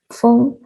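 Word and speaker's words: 風: original character for wind, feng, and phoenix, feng, were used interchangeably and are pronounced similarly.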